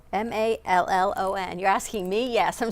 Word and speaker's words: Mallon: You spell it? You saying the last name correct? M-A-L-L-O-N.